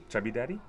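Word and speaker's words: Chubby Daddey: How do you pronounce it then? Chubby Daddy?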